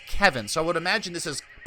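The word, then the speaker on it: Kevan: might be Revan, because people have corrected me about how to say Kevin. Like Tywin Lannister's brother, Kevin Lannister, is spelt the same way, only with a K at the front, and it's pronounced Kevin.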